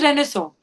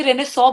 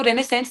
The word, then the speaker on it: Renaissance: I was like, it's Renaissance. Okay, ma'am, how do you know? मैंने my history teacher used to poke us कि आप ये रेनेसॉ बोलेंगे, इसको रेनेसेंस नहीं बोल सकते हैं।